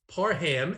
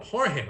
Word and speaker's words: Parham: what about donald parham parham as he corrected everybody on twitter this week and said this is the way you say my name what about donald parham i understand you've got